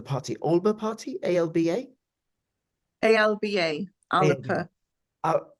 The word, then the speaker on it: Alba: Alber party Alba Alba alip Al the Scott pronunciation is aliper alipa okay all right what's